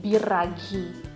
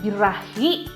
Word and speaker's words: Biraghi: bir ragi by raghav Hai biraghi bukan birahi ya walaupun gue punya birahi